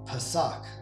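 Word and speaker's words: Pesach: it's literally known as pasak right right that's how you pronounce it in the hebrew right uh and if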